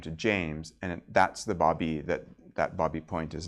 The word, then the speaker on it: Baby: it is spelled b a y but it's pronounced Bobby and if you were ever over in bbby point it's not baby Point um and um his older brother jacqu